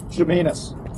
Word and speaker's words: Chemainus: town of uh Chas Chas how do you pronounce this town shanus shanus yeah shanus okay thank you you're welcome